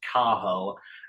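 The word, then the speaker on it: Cathal: h a l but you don't pronounce the T so it's it's pronounced kahal and it's Gaelic for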